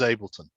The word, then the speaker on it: Ableton: how you pronounce it ableton yeah it's fine unless you're german if you're german you pronounce it entirely differently everyone else in the world pronounces ableton uh but the germans of course pronounce it uh uh differently but uh it's known as ableton yeah yeah what was